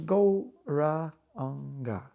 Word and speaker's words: Gauranga: The mantra will be Gauranga divided into 4 syllables, Go-Ra-Anga.